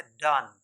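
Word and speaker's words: dung: एन जीी my dear यह होता है डन जिस तरह हम डी ओ एन को प्रोनाउंस करते हैं ठीक उसी तरह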